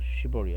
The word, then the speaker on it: shiver: shiver, 이거 발음 잘해야 돼. 잘못하면 욕이 돼요. shiver이요, shiver.